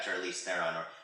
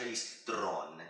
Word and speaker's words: Charlize Theron: We have Charlize Theron, or how she actually says it's pronounced, Charlize Theron, as Lorraine here, as the atomic blonde.